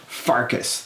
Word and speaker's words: Pfarcus: The Aged Gamer with Widied and Pfarcus. The P is silent.